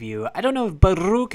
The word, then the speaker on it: Baruuk: I don't know if but Luke is pronounced with the rolling R but it sure is